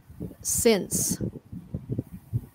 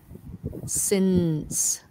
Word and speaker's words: since: wrong produce since okay since because they forget the ending sound okay since since very good uh is